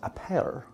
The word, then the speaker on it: Appert: A fellow by the name of Nicholas Appert, A-P-P-E-R-T, I'm trying to pronounce it like my buddy wow. Raul would, yeah.